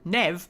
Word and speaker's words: Neve: Loved Emmerich and Neve. Yeah. Not Neve, Nev. It's spelt Neve. And it's pronounced Nev.